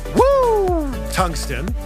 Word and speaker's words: Woo Tungsten: Actually, it's pronounced Woo Tungsten because that's the sound you make when you catch a giant fish.